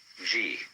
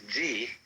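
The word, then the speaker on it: 事: First of all, there is a a a level of being which we will call G. The word G, which is Japanese way of pronouncing the Chinese chur, is the world of things and events.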